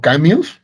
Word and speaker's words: Camus: Eh, entonces, eh, Camus, por ejemplo, famoso filósofo existencialista, o Camus, si quieren pronunciarlo con estilo francés, decía que la verdadera pregunta que hay que hacerse en filosofía es ¿por qué no suicidarnos?